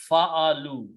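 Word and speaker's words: فعلوا: To do the plural, you add a waw and just add an alif, which is written, not spoken. So it becomes, and then we pronounce fa'alu.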